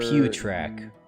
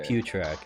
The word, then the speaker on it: Putrak: For the recipes, I learned the putrak, which is a main ingredient for repellent, which I also learned. Also, the that's camouflage elixir. that's pronounced for Pewtrak. Putrak? Okay. Pewtrak. It's supposed to sound disgusting.